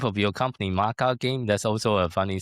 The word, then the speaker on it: MaKa: So what would be Maca? And I thought that's the way I'll pronounce it, Maca.